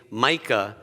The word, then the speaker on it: Micah: When people called me or Michael, the way that I helped them pronounce it correctly was saying Micah, as in Formica.